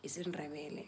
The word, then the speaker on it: isiNdebele: Yes, you're gonna pronounce it like that. isiNdebele.